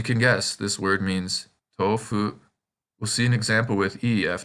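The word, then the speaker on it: 豆腐: So in this word, the O in to is said twice as long. And as you can guess, this word means tofu.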